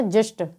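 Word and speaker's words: gist: एस आए तो वहाँ पर भी जी का उच्चारण ज होता है। तो जी आई एस टी को हम क्या पढ़ेंगे? जिस्ट।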